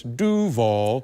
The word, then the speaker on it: Duval: Well, I am Duval, or as I'm learning to pronounce my last name, it's Duval.